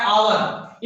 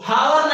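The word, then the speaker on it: hour: देखिए सबसे पहले यहाँ पर हॉर्स है एच से और यहाँ पर है आवर। इसको हावर नहीं पढ़ेंगे, इसको हावर नहीं पढ़ेंगे। यहाँ पर जो एच वर्ड है वो साइलेंट होता है।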